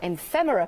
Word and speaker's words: ephemera: You're getting your stickers and your ephemera pack.